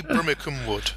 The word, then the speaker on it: Brimmicombe-Wood: I think I've mispronounced just from your face. Oh dear, Brimmicombe-Wood.